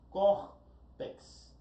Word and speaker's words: córtex: Córtex, córtex. Quantas sílabas eu tenho? Duas sílabas, córtex. Olha o córtex, ela é oxítona? Não. Ela é o que? Paroxítona terminada em X.